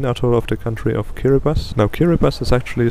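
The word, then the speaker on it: Kiribati: of the country of kiribas now kiribas is actually spelled kirati like with a TI in the end but you pronounce it kiras so the ti becomes an S for some reason took me a while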